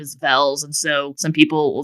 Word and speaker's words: Velz: my last name is vels and so some people will just think my last name is actually vez and I'm just pronouncing it wrong or something oh don't